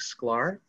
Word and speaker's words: Sklar: We have a special guest, Sklar. Is that correct? Sklar? Thank you. Correct. Thank you for pronouncing it correctly.